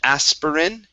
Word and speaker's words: aspirin: the word aspirin now here we don't need to pronounce this uh this other eye so instead of aspirin it's aspirin aspirin good good next up